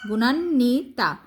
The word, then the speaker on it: গুণান্বিতা: না, গুণা নি, গুণান্নি, এই যে দন্ত নয় ব সংযুক্ত, গুণান্নি তাইকাতা, গুণান্বিতা।